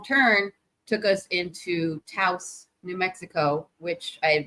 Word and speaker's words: Taos: But what was really cool is the wrong turn took us into Taos, New Mexico, which I had never heard of at the time.